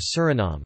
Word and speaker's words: Suriname: In Dutch, the official language of Suriname, the pronunciation is Suriname, with the main stress on the third syllable and a schwa terminal vowel.